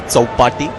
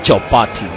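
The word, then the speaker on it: Chowpatty: When it's Marathi words, you pronounce it exactly the way it should be. Chaupati, Ganpati Visarjan. It's not like Chaupati.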